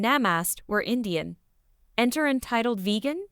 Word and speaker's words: Namaste: Between gasps of breath, my friend managed to say, "It's pronounced Namaste."